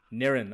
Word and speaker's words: Nairn: So, if you want to do a Scottish accent, that's probably the best way. If you like N. Nin.